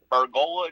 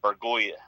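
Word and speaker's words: Bergolla: from venezuela named william argola jr actually paid him 2 million dollars which represents 40 percent of their 5.1 million dollar international bonus pool wow actually pronounced burgoya he's ranked fourth among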